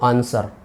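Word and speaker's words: answer: सा है बोलकर देखो आंसर डब्लू का कहीं उच्चारण हुआ क्या नहीं तो डब्लू जो है वो इसमें साइलेंट है क्योंकि हम आंसर लिखते हैं आंसर नहीं बोलते आंसर व व कहीं भी नहीं आता डब्लू का कहीं कोई शब्द या उच्चारण नहीं होता चर्चा के शिष्टाचार में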